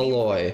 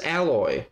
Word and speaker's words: Aloy: See, he didn't even say it as alloy, as the alloy, metal alloy. But no, it's Aloy instead. Who would even say it like that?